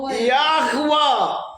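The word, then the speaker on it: יהוה: ദൈവമായ നിങ്ങളുടെ പിതാക്കന്മാരുടെ ദൈവമായ യാഹുവ എന്നെ നിങ്ങളുടെ അടുക്കൽ അയച്ചിരിക്കുന്നു ഇത് എന്നേക്കും എന്റെ നാമവും തലമുറ തലമുറയായി ഒരു ജ്ഞാപകവും ആയിരിക്കും യാഹുവേ എന്നോ യഹോവ എന്നോ നിങ്ങൾ ഉച്ചാരണം ചെയ്തോളൂ യോദ് ഹേഹ് വാവ് ഹേഹ്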